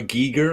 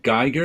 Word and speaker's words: Giger: so long to to learn to say hr giger instead of geiger and now when i say geiger i want